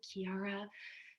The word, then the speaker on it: Quiara: know it's uh oh can i speak with kiara did i say that right i remember you asked about the pronunciation immediately which was not so common then um and you had pronounced it right which was impressive and